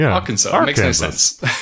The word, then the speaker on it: Arkansas: Uh, I spoke to Abby at some point and, uh, famously mispronounced Arkansas as our Kansas.